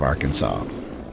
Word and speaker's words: Arkansas: Some people will say R Kansas, right? Some people will say R Kansas instead of Arkansas.